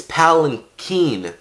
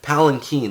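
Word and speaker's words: palanquin: the next day and we finally learn how to pronounce this freaking word it's palen Keen palen Keen that's how she said it and Steven decides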